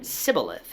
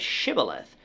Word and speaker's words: shibboleth: if someone said sybileth instead of shibboleth after being asked if they were an ephemite the men of gilead determined that this person was lying and they would be killed on the spot today sometimes you